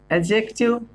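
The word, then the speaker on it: adjective: होता है दोस्तों आपका एडजेक्टिव, ध्यान से बोलना इसको, डी यहाँ पर साइलेंट है, ए और जे के बीच का डी हमेशा साइलेंट होता है, ठीक है, जैसे कि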